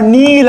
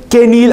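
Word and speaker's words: kneel: Okay, for example ಕೆ ಎನ್ ಇ ಎಲ್ ಇದರ ಉಚ್ಚಾರ ನೀಲ್ ಅಂತ ಇರುತ್ತೆ. ಮಂಡಿಯೂರು ಇಲ್ಲಿ ಕೆ ಸೈಲೆಂಟ್ ಇರುತ್ತೆ, ಎಷ್ಟೋ ಜನಕ್ಕೆ ಕೆ ನೀಲ್ ಅಂತ ಹೇಳುವಂಥ ಕನ್ಫ್ಯೂಷನ್ ಆಗ್ಬೋದು.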